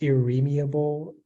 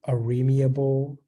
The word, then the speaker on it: irremeable: It can be pronounced irremeable, irremeable, or irremeable.